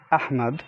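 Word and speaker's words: أحمد: beginning of the words so when you say ahmad ahmad which is the name ahmad you say ah at the beginning sometimes we have it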